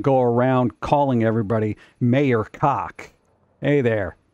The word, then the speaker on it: Koch: It's not cock, okay? That's the thing. It's Koch. It's Koch.